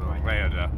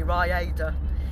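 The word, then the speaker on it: Rhayader: And then we're going to drive an hour and a half over to Rayada. Rayada. Rayada. How do you say it? Say it differently. Raiders of the Lost Ark.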